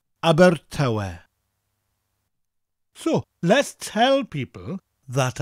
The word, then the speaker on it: Abertawe: Abertawe. Abertawe. Abertawe.